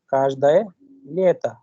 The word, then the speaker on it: каждое лето: Každoi Lito Каждое лето क्योंकि stress कहाँ पे उसको देखिए, इसीलिए आखिर में the pronunciation is like काशदाय लियता, काशदाय लियता every sun.